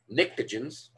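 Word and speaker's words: pnictogens: nitrogen group is called nicktogens the p is silent uh and this area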